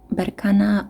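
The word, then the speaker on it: Berkana: Now for you, group three, we have Banana, Burkana or Burkan, however you want to pronounce it, the rune of fertility.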